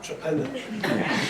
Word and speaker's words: Torpenhow: I was more worried about the pronunciation of it, because this is a county that calls Torpenhow Trepenna.